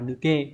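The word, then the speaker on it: 抜: Số 1 này chúng ta có chữ bạt, đọc là nuke.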